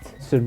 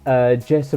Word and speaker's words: Yerson: So yeah, Yerson Mosquera, I think that's how you pronounce it. Like I said, I think the Y is more of like a J in Spanish, so I think that's